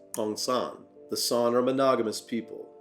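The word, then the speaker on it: San: Typically pronounced Sonn, the Sonn are monogamous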